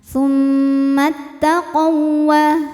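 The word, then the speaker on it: ثم اتقوا: membacanya adalah didengungkan Tum nah ini Hamzah wasal ya di tengah tidak dibaca ya kita lewat mimnya tetap pendek tummtaq kemudian ada hukum idgham mutamilain sebab ada wau sukun ketemu wau berharakat wau pertama bukan huruf mad Ya catatannya jadi cara bacanya adalah wau pertama dileburkan ke wau kedua tanpa harus kita kita tahan tummattaqawa seperti wau tasydid biasa ya Jadi yang ditahan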